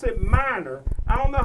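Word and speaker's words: Meinerz: el allen his name is quentin but he pronounced it minor i don't know how you get minor out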